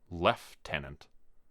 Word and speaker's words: lieutenant: be mine Captain Casco Lieutenant left Tenant Dr Foster had pronounced it like a Brit and the day that